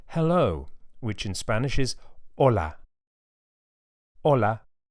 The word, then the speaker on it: hola: A good place to start is the word hello, which in Spanish is hola. Hola. You can hear that the initial H is silent.